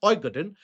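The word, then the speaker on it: Øygarden: Oigaden is it is pronounced as Oigaden.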